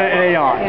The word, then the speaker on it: Ayotte: be, or I should say Ayotte if I'm pronouncing it properly. Oh, it is Ayotte. I got it right. That you'd never know. We call her Ayotte up here.